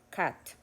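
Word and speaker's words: cut: para los tres tiempos Cat esta se pronuncia como una a Cat entonces por eso decimos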